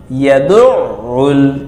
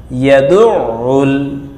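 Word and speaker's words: يَدُعُّ: ফাযালিকাল্লাযী ইয়াদুউল, আইন গলা চিপ দিয়ে ইয়াদুউল, তাসদীদের উচ্চারণ ধাক্কা দিয়ে উচ্চারণ করতে হবে, ইয়াদুউল, ইয়াতীমা, অফকলের মধ্যে আরজি তিনের টানতে হবে, ফাযালিকাল্লাযী ইয়াদুউল ইয়াতীম, এটা অকফসিন্ন আর ভিতরে আয়াত সংখ্যা।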